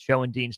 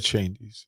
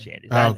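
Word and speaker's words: Schoendienst: Meter, Stan Mutual, Buck O'Neal, Pee-Wee Reese, Red Show and Dean. All sorts of names there as Did you call him Show and De I mispronounced. It's Red Chandies. It's Red Chandies.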